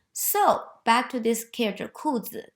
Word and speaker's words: 裤: And then the other side indicate the sound of it, 裤. So together pronounced as 裤, 裤子, 裤子.